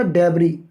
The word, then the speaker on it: debris: अभी अभी हमने एक वर्ड देखा था डेबरी, डेबरी DEBRIS, इस एस को आप नहीं प्रोनाउंस करते, एस यहाँ पर साइलेंट रहती है।